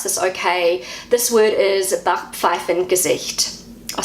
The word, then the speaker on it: Backpfeifengesicht: This word is Backpfeifengesicht. I'll say it again, Backpfeifengesicht. So that's how I say it as a New Zealander. This is how Google pronounces it. Backpfeifengesicht. Backpfeifengesicht.